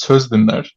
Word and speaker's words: Sözdinler: It's pronounced as Sözdinler. but it's a Sostin. Turkish. It's an Yes. impossibly Turkish surname.